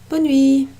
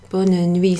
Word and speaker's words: bonne nuit: Bonne nuit. Bonne nuit. Sometimes you'll hear the E at the end, the E sound pronounced, and that's common in French.